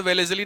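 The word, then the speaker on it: Wellesley: एल इ वाई वेलेसली spelling से कोई मतलब नहीं है वेलेजली डब्ल्यू ई एल ई एस ई एल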